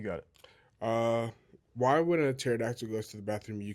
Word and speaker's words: pterodactyl: Why when a pterodactyl goes to the bathroom, you can't hear it? Because the P is silent.